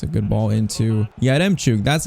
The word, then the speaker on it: Yaremchuk: It's a good ball into Yaremchuk. That's how you pronounce it.